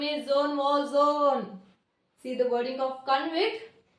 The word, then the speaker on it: Jean Valjean: The correct pronunciation of this word is a Jean Valjean, not Jean Valjean.